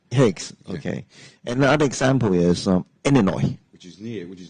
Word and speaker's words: Illinois: people yeah yeah okay another example is um Illinois which is near which is near the next